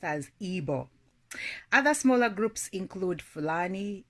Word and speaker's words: Igbo: The three largest and most dominant ethnic groups are Hausa, Yoruba, Igbo, pronounced as Igbo.